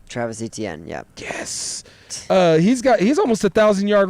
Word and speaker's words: Etienne: Etienne? Travis Etienne, yeah.